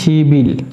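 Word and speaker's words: 십일: শিবিল উচ্চারণ হবে শিবিল, বিপটা ইউমের স্থানে চলে যাওয়াতে সে ব উচ্চারণ নেবে।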